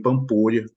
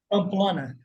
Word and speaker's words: Pamplona: também é é o treinador aí da Anine pampola pampola né a pronúncia né carelo Pamplona Pamplona meu Deus do céu depois ela vai